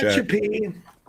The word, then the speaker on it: Tehachapi: Tehachapi, suburb in the middle of California. Not touch a P.